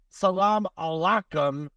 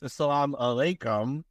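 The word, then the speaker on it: salaam alaykum: they can say now he's going to say Salam Alum and then you're going to say w Salam no it's Salam alayum andum Salam yeah I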